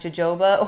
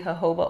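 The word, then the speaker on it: jojoba: is straight hoba oil I used to pronounce it as Joba oil but it's actually hoba oil and um I use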